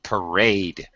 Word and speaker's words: parade: Parade. Parade. Parade. Parade. That's it. Second syllable stress. Parade.